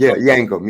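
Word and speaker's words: Yankem: how you say it you say Isaac yank yankum yeah d a dentist with yellow teeth yeah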